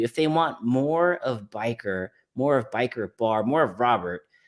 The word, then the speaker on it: B1ker: But if you want to spell it out, biker, just like the name biker, the word biker, the one in the dictionary, it's just a one instead of an I.